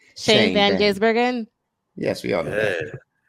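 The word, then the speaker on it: Shane van Gisbergen: only one that knows how to say this Shane Van gurgen yes we all know that we all went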